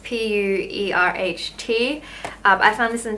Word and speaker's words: pu-erh: day like that's always say in Chinese it's pronounced pu-erh tea I found this in Chinese supermarket it's